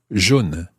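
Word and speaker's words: jaunes: would talk about the guess what it sounds the same however this time it has an s on the end j-a-u-n-e-s so that's masculine plural and feminine plural you've guessed it it's john as well j-a-u-n-e-s john and the same happens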